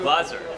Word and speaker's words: Glazer: Glazer. Yep. And it's German.